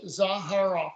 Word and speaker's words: Zaharoff: It's Za like pizza, Uh-huh. Har like har like, you know, funny, and Yep. then off like the switch, Zaharoff.